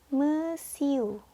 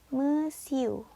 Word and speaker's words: monsieur: tulisan Made moiselle ya yang pertama yang dibacanya mesiu mesiu yang kedua dibaca madam Hai nadam dan yang terakhir dibaca Mad muzzle Apa bedanya I miss